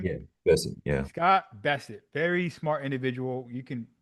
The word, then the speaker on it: Bessent: Treasury is Scott Bessent, or is Hmm. that how you pronounce his last name? Yeah, that's it. Yeah, Scott Bessent, very smart individual.